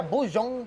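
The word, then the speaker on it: Boseong: Esta hamburguesa Bujeong Green Tea, que se pronuncia Bujeong.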